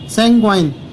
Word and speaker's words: sanguine: सैंग्वाइन, सैंग्वाइन का मतलब होता है आशापूर्ण।